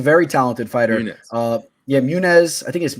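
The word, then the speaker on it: Muniz: talented fighter uh yeah munez i think i think it's pronounced munez or munez whoever you say that but uh he you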